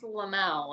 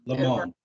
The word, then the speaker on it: Lamont: Well, Liz Lamel is the, not Lamel, sorry. I forgot, how do you say her last name? But Liz in HR, obviously. Lamont. Yeah, Lamont.